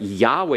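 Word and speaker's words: יהוה: But Yahweh is two syllables, and then you have davar.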